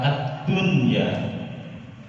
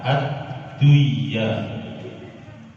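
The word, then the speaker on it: الدُّنْيَا: Kemudian yang terakhir pada kata ad-dunya. Ad-dunya tidak boleh dibaca ad-duya.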